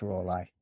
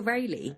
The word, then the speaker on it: Raleigh: Walter Raleigh. No, it's not how you pronounce it. It's Raleigh, I think is how they pronounce it. Wait, it's R-A and then yeah, Lee.